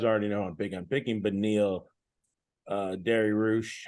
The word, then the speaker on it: Dariush: You guys already know I'm picking Beneil Dariush. How do you say his last name again? Give me Baba Ganoush. Baba Ganoush is how you say it. Dariush.